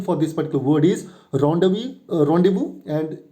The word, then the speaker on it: rendezvous: So it is rendezvous. Rendezvous. The pronunciation for this particular word is rendezvous, and it's a noun, and the meaning is already there.